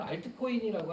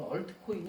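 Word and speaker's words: altcoin: 우리가 보통 부르는 말로는 알트코인이라고 하는데 한국에서는 원래 이제 영어 발음 원 발음상으로는 얼트코인이 맞습니다.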